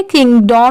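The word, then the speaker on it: kingdom: यहां पर डोम नहीं पढ़ेंगे। किंग डोम नहीं इसकी साउंड डम की आएगी।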